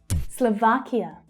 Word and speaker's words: Slovakia: Slovakia. Slovakia. You can hear that stress is on the second syllable.